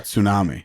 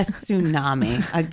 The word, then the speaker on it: tsunami: She was like when an earthquake happens underwater, and like she was just a tsunami. a tsunami. She was just a goddamn mess. T is silent, buddy.